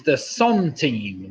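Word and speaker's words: centime: coin hours after his the song team the song team it's spelt sent on C e n tima is the Sun team well done if he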